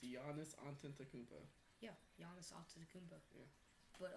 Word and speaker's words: Giannis Antetokounmpo: It's Giannis Antetokounmpo.